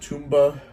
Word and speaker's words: Tomba: band n Namco but we also have tumba or Tomba as i' probably say it should be a lot